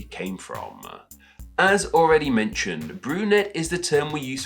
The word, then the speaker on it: brunette: I'm going to say that with a silent T. My Old French isn't too great, I'm sure you can imagine, but T's at the end of French words tend to be silent, so let's go with